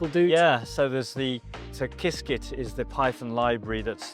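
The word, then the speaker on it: Qiskit: Yeah, so there's the So Kiskit is the Python library. That's the open source. Can you spell that?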